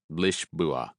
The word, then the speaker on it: Lisboa: He pronounced it Lisboa.